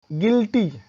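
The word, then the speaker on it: guilty: गिल्टी, जी यू आई एल टी वाई, गिल्टी अपराधी होते हैं, है ना। तो जी यू के बाद आई आया है, वॉवेल आया है।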